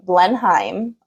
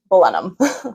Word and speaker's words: Blenheim: I was pronouncing Blenheim. And then my tour guide who I was talking to, she was like, "You're German." I was like, "Well, funny enough, my family is German." But it's Blenheim.